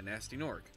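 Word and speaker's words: Gnasty Gnorc: second-guess it and also all their names are like nasty nort with a silent G in front of it so your initials here are gg yeah nasty Nork how do you get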